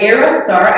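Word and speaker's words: Ayra Starr: My song of the moment is Rush by Aerostar. I never know how to pronounce her name. Is it? Because there's a Y, right? Yeah, it's like Era, but like it's A-Y.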